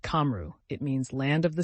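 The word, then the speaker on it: Cymru: Answer: Simu, pronounced Kamru.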